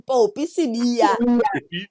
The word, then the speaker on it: Popi Sibiya: Literally, I still pronounce my name Popi Sibiya.